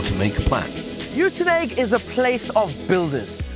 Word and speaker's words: Uitenhage: It's actually Uitenhage, but now we pronounce it as Kariega.